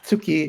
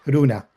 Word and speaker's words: Runa: But the girl's name is not tsuki, it's Runa. From Luna.